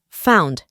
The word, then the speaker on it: found: En el pasado es found. En la pronunciación reemplazamos la O por una A. Found.